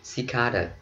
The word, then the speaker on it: cicada: Trọng âm rơi vào cái âm thứ hai, cicada. Ok, mình đọc cicada là sai ha, phải là cicada.